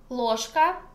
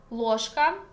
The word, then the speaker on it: ложка: Ложка means spoon. Ложка. And here pronunciation rule when we write жк but pronounce шка. Why? Because voiceless ka make voiced ж become voiceless ш. Шка, ложка.